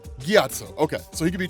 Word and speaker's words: Gyatso: monks, primarily a monk named, how do you pronounce that name? Right. Gyatso.